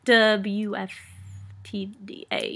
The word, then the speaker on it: WFTDA: super formal about it I prefer to just say wufta because it's a little